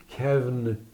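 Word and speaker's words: كون: Kün ol demek. Evet. Kün yazılabilmesi için kef, vav ve nundan yazılır. Ve kün diye okunur. Evet. Ama arada vav olduğu için onu kevn diye de okuruz.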